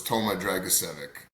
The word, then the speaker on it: Toma Dragicevic: I'll use the what I call the Canadian version, so it's Toma Dragicevic. Dragicevic.